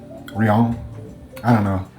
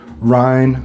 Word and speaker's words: Rien: A Rianen comparison. real. So, let's talk about the pronunciation. First of all, um the Rs are pronounced kind of like an H.